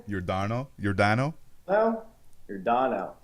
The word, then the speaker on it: Yordano: now how do you say his first name Yordano your Dino hello you're Donna uh Yordano Ventura is uh he's one of those guys